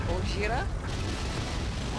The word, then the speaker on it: Gojira: It's not racist if that's how they say it. Gojira.